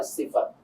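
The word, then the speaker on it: ث: এবার যদি আমরা সাতে যাই, সা, জিহ্বার আগাটা এসে দাঁতের আগার সঙ্গে লাগবে।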